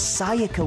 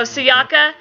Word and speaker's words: Sayaka: it in the game, because I don't feel like S-A in Japanese means sai. I feel like it's Sayaka. Because even when you're saying like sayonara, you're not saying sai, you're saying sayonara.